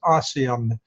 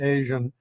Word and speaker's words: ASEAN: Just for the benefit of the audience out there, I think we usually pronounce that as ASEAN. That's just the way we pronounce it rather than Asian, Association of Southeast Asian Nations.